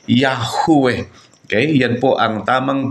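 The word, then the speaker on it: Yahweh: B binibigkas po natin ang tamang pagbigkas po ng salitang yahwe nabasa babasa kasi natin yan sa mga Bible yahwe yung short form niya is Ya O yaho pero ang tamang pagbigkas po niya ay yahwe Okay Yan po ang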